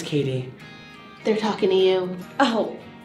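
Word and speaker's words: Cady: need any help doesn't catty remind you of Regina George it's pronounced Katie Regina George Katie Herron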